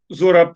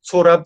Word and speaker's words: Zorab: Because, of course, when they read the Z in his British passport, they read it with the German pronunciation as it said, right? So instead of Zorab, called Sorab, and then they somehow managed